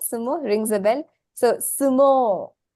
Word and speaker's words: sumo: once again this is a word that is mispronounced we say we I think uh say suo because we don't to saymo right but it's